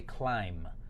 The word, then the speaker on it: climb: right next word is climb so again very similar to the word bomb right the last B is silent right we don't really pronounce we don't say climb but right we say climb and if you notice